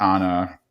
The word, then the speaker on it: Anna: setup is Reed and Anna Anna you nailed it Anna Anna and that's specifically the name is spelled an an and it comes up later on that someone's saying it an Ann and I thought that